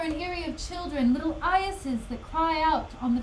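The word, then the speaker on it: eyases: E-Y-A-S-E-S. Pronunciation. Let's hear it. I think it's Iases. Iases. Yes! Man, I'm so smart. It's Iases.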